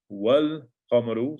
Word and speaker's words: والقمر: والقمر, والقمر, so the sukoon is on the lam, والقمر, you pronounce the lam because it is a moon letter.